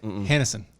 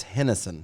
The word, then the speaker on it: Henderson: How do you say it? Is Hennison. It's Hennison.